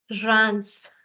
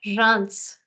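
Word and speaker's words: Reims: tricky try this this is a city in France so here the S is sounded I've not made it red you have to sound it as rans say that rans rans rans okay this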